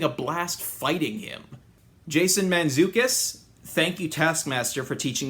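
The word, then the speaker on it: Mantzoukas: Jason Manzukus, thank you Taskmaster for teaching me how to pronounce his name.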